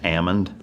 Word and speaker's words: almond: Isn't it actually or technically pronounced almond? Yeah, because they shake the L out of them. Which is weird. It's like salmon, right?